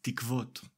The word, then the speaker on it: תִּקְווֹת: The plural form of the word tikva is tikvot.